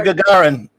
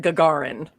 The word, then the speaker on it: Gagarin: Yuri Gagarin.